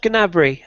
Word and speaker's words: Gnabry: Do we pronounce the G or is it silent? It is Gnabry technically, but it sounds silly.